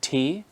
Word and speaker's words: Tee: like for example der Tee, the like chai, the tea, and that is pronounced like the Barawala ta, like in teak, not like ta in tomater or tiger.